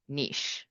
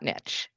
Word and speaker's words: niche: Now, first of all, it's pronounced niche, not niche.